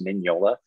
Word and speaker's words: Mignola: The MG is pronounced like an NY, so it's Mignola.